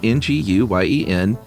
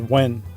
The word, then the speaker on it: Nguyen: And said, I pronounce that Nguyen, but different people even pronounce my last name differently within my own country. Yeah, I've always seen it pronounced as, or heard it pronounced as Wen.